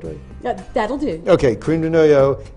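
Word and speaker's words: crème de noyau: use creme de noyau, which you going to pronounce it the right way? Yeah, that'll do. Okay, creme de noyau.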